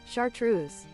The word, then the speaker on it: chartreuse: Um, you say that but I typed in chartist reuse and the second autocomplete was pronunciation. So, uh, hang on. Let's chartreuse.